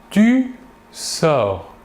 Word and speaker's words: tu sors: Nous voyons bien ici que le verbe se prononce de la même manière. Par contre, les terminaisons S pour les deux premières personnes du singulier ou T pour la troisième personne du singulier s'écrivent mais ne se prononcent pas.